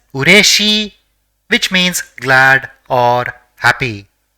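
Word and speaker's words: うれしい: So it will be pronounced as ureshi, which means glad or happy.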